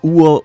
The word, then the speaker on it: Uo: The name Uo might sound like it breaks the two-syllable rule for every devil fruit name, but you have to keep in mind that individual vowels are considered single syllables in Japanese, so the name still